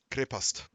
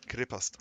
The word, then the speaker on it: Крепость: Krepast. Cool. Okay. Крепость. Krepast. Yeah. you pronounce it.